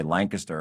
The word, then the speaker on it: Lancaster: And the county commissioners down there in Lancaster, which is that's the way it's pronounced, by the way, Lancaster.